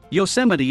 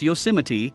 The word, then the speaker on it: Yosemite: HBO equals home box office while Yosemite is pronounced Yosemite, not Yosemite.